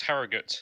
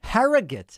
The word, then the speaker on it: Harrogate: next to evan from herrera is it pronounced harrogate in the united kingdom hello david can you hear me okay yeah i can hear you fantastic it's pronounced harrogate actually harrogate i like it um yeah so i just